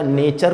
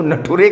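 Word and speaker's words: nature: समझ गया कि जो प्रिंसिपल जिस कॉलेज का नेचर को नटुरे कहे, तो ये फ्यूचर है फुटुरे कह रहा होगा।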